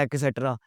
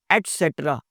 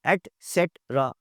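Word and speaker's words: et cetera: एटसेट्रा, एक्सेट्रा बोलते हैं हम जी, एक्सेट्रा, एक्सेट्रा। ये जो ETC बोलते हैं ना, वो असल में ये लफ्ज है एटसेट्रा, एटसेट्रा। जी, कर्नल साहब होते हैं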